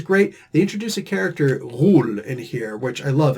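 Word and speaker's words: غول: they introduce a character rule in here which i love and yes that's the proper arabic uh pronunciation rule it's not a sound in the english language there are lots of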